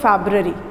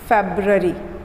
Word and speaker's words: February: इन the month of फरवरी। फरवरी कोई नहीं बोलेगा, क्या बोलना है? फेब्ररी, फेब्ररी, फेब्ररी। फरवरी, फरवरी नहीं, फेब्ररी।